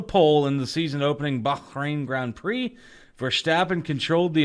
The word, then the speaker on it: Bahrain: was that place again Wayne that is in Bahrain okay oh he said it right this time